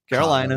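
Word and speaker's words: Karolina: It's pronounced like the state, Carolina.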